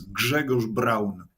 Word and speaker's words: Grzegorz Braun: I should point out I'm using the the Western pronunciation of your first name so to my polish viewers I apologize but I triy I tried for like 10 minutes for your polish viewers my name is Gregor Brown I I said I'm